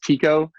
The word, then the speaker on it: Tycho: taiko it's actually pronounced chico is how the guy pronounced it but i just pronounced it taiko because i'm american but uh chico brahe